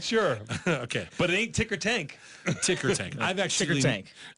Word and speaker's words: tickertank: ticker tank yeah you said it wrong not ticker plant not ticker plant not ticker you not ticker not ticker taint not ticker tank ticker taint tank ticker tank T ticker tank I'm not sure okay but it ain't ticker